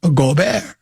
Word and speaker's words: Gobert: In America, you would just say Gobert, but the French pronunciation is Gobert.